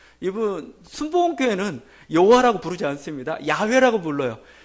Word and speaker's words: 야훼: 그러다 보니까 발음이 여호와가 나와서 여호와다 이렇게 했는데 학자들이 연구하고 이렇게 해보면 바로는 아니라는 겁니다. 여호와가 아니라는 겁니다. 야훼나 야외가 맞습니다. 그 발음이 더 맞아요. 대표적인 게 우리가 할렐루야죠. 할렐루여 안 합니다. 할렐루여가 아니고 할렐루야예요. 그러니까 야훼, 야식으로 이렇게 나타나는 발음이 정확한 거고 가끔 들으면 그래서 조윤교 목사님 좀 대단하죠.